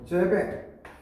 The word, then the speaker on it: Seebeck: 그래서 열과 전기에 관한 건데 이거를 누가 최초로 연구 성과를 냈냐면 제벡, 꼭 불어 같지만 발음은 제벡이죠.